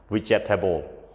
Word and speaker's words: vegetable: house okay comfortable not comfortable អូខេពាក្យបន្ទាប់ទៀតពាក្យទី5គឺយើងអានថា vegetable អូខេភាគច្រើនតាមរយៈការបង្រៀនរបស់ខ្ញុំគឺសិស្សភាគច្រើនគាត់អានថា vegetable okay I love vegetable I don't like vegetable